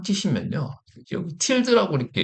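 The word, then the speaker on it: tilde: 이 틸데, 틸데라고 하든 틸드라고 하겠습니다. 뭐 발음하는 외국 사람들이 틸데라고도 하고 저는 틸드라고 하겠습니다. 이 틸드가 홈 디렉토리라고 뜻이에요.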